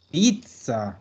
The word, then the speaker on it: pizza: a ser un ats se zeta ya como pronunciamos esto veronica esta pizza perfecto pizza es una típica pelea porque aquí